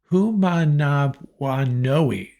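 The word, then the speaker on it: Manumaleuna: at my cheat sheet here make sure I pronounce this right tight end Brandon who manav woi that's right a tight end out of Torrance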